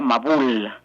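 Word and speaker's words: מבול: Eh, la palabra diluvio en hebreo se pronuncia mabul y si tomamos la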